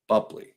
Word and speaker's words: Boepple: I've met her, is you say her name and you try to spell it, you're never going to find it. So it's Boepple, Bupley, just like it's spelled.